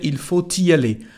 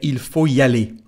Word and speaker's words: il faut y aller: We've got a letter T. So if you want to make the liaison, there's no problem. You can say il faut y aller. But Most people in France say il faut y aller. Il faut y aller without pronouncing the letter T.